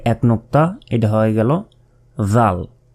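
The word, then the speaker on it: ذ: এরপর জিহ্বা বের করে, এই অক্ষরটি উচ্চারণ করার সময়ও আপনাদেরকে জিহ্বা বের করে উচ্চারণ করতে হবে। জাল, জাল। জিহ্বা না বের করলে কিন্তু এই অক্ষরের উচ্চারণ, সঠিক উচ্চারণ কিন্তু হবে না, এটা মনে রাখতে হবে।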